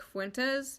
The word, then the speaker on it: Fuentes: is a far-right fan of the streamer Nick Fuentes, and Oh, that's how you pronounce his last name, okay.